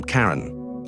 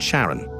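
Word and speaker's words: Charon: Christy suggested the name Karen after the fairerryyman of Pluto's underworld in Greek mythology, but preferred to pronounce it Sharon, more like his wife's name, Charlene.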